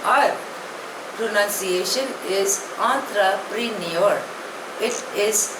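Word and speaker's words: entrepreneur: आर ई एन ई यू are pronunciation is आंत्र प्रनर इट इज a French word it means a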